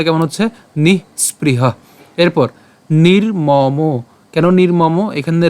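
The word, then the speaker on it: নিঃস্পৃহ: সো উচ্চারণটা কেমন হচ্ছে? নিহ স্প্রিহ। কেন? কারণ এখানে তাহলে বিসর্গ উচ্চারণটাও আপনার যে উষ্ম ছাড়তে হবে সেটাও কিন্তু ক্লিয়ারলি উচ্চারিত হবে। সো উচ্চারণটা কেমন হচ্ছে? নিহ স্প্রিহ।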